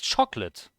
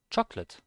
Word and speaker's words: chocolate: it's not chocolate it's chocolate the o does not get pronounced chocolate and that's basically the